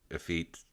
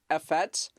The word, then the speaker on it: effete: thought it was like effects that's what we were saying it's a feat like defeat but without the d and for those listening